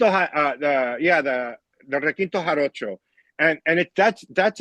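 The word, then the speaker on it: requinto jarocho: the guitar the the I'm probably going to butcher the name the Rquinto horo. Oh the rakinto uh the yeah the the rakinto haro and and it that's that's an instrument from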